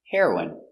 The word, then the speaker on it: heroine: The pronunciation is the same. The drug heroin and the person heroin.